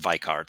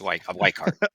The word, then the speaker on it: Weikart: I mean when when I'm in Germany I pronounce it viart because that's it is a German name but viart it's wart okay we thank you well we have Dr